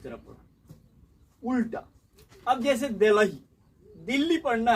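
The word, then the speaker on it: Delhi: अब बताइए कि इसका स्पेलिंग है, कहीं ह लिखा हुआ है या इसमें कहीं ह है? ये ह कहाँ से आया? एच कहाँ से आया? कहाँ से आया? उसके बीच में छुपा था। कुछ नहीं छुपा हुआ है। आप पढ़िए दिल्ली, दिल्ली, आप पढ़िए दिल्ली, है कि नहीं है? तो इसमें ह का उच्चारण कहाँ हो रहा है?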